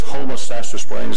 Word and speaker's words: Homosassa Springs: Now, this took me a year to learn how to pronounce it. It's Homosassa Springs, Florida. You can't say that fast.